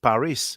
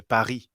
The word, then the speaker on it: Paris: and um very little we don't actually pronounce the s actually you know it's like you know english speakers say paris paris but we say paris yeah yeah i've heard